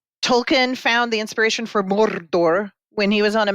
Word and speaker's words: Mordor: Well pronounced. Mordor.